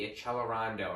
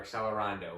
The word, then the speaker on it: accelerando: For example, the one that means speeding up is the accelerando or accelerando, whichever way you'd like to pronounce that.